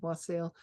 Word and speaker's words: wassail: Am I pronouncing that correctly? Yeah, wassail.